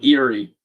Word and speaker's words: Erie: Erie. Lake Erie. And I guess it sounds weird because it sounds like the word eerie, like creepy.